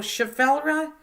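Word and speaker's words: Schefflera: So, Chaffelra, because I want to label my plant after I get it rooted. Not spelled right, but spelled how pronounced.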